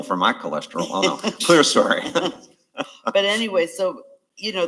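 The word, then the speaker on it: clerestory: might be some of those they call them celester or clester Windows Chester story that's not how it's spelled I'll go with you guys I take a pill for my cholesterol oh no clear story but anyway so you know they're going to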